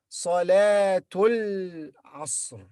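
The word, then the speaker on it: صلاة العصر: And when we join this with this, the alif in the beginning of this word will be silent. So we say Salatul, two followed by la, Salatul Asr.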